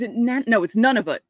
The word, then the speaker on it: Nunavut: And for some reason, Nunavut doesn't like, it's Nunavut. That's how you say it.